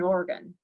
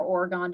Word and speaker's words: Oregon: This particular example that you're seeing on the screen is in Oregon, or Oregon, depending on who you hear pronounce it.